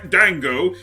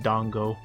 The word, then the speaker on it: dango: I don't want to directly correct him because that pronunciation works so well with that voice, but it is pronounced dongo.